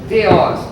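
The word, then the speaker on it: θεός: masculino segundo declinação mas teos teos pronúncia de acordo com a pronúncia erasmiana Cambridge teos e é uma palavra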